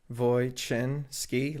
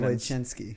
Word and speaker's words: Wojczynski: No, it's actually really simple when you pronounce it. Wojczynski, like chin. Wojczynski.